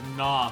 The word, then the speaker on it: gnaw: car that could use gnaw for no energies and i remember being like why is there a silent g oh i remember no